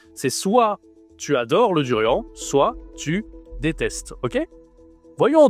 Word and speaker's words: durian: On prononce avec le nez, le en. On dit le durant. Le duriant, c'est un fruit spécial parce que c'est surtout en Thaïlande qu'on mange ce fruit.